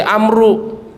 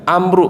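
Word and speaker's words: عمرو: Kalau belakangnya wawu berarti Amru. Kalau nggak ada wawu di belakangnya berarti Umar. Paham ya Pak ya? Ini kalau ditulis di papan tulis itu Pak, kalau tidak ada wawu berarti bacanya Umar. Kalau ada wawu di belakangnya Amru, karena ada sahabat namanya Amru bin As.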